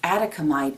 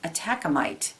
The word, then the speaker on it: atacamite: the gemstone here is atacamite or atacamite it's pronounced both ways this calms and releases